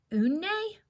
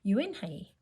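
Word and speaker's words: Unhei: "Une?" the girl asked, scrunching up her face. "Une?" some kids chanted. No, Yoon-hye corrected. "It's spelled U-N-H-E-I. It's pronounced Yoon-hye." "It's you-hey?"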